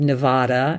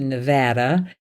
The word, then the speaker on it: Nevada: Like I said Nevada, and I had to change to Nevada.